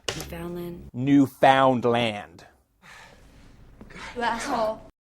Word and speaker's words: Newfoundland: reminding you that's pronounced Newfoundland, not Newfoundland.